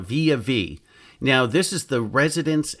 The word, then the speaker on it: Villa Vie: Now, I really think this should be called the Villa V because it's spelled V-I-L-L-A, but they call it Via V.